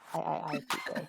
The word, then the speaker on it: iiPK: Splatoon saying it's pronounced with 4 eyes. iiPK. Okay. All the eyes, PK. But right on his page, he says iiPK.